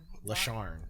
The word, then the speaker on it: LaSharne: LaSharne. Yeah. LaSharne. Like yarn, but LaSharne. But that's how I say yarn. Bow. LaSharne. Okay. Hard R. Hard R. LaSharne. Ain't no hard R's on the show. LaSharne.